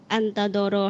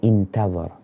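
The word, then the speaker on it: انتظر: laqiya fi hal adu antadoro hatta idza malat. Bacanya intadhar.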